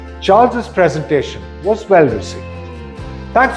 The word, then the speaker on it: Charles's: Listen to the pronunciation. Charles's presentation was well received.